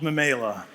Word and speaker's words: Memaila: And it's called, you might be asking, how do you pronounce it? It's called Memela.